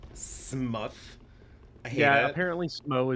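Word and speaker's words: Smough: __ ] no Pronto just glasses it's actually pronounced smuff smuff I hate yeah apparently Smo is actually pronounced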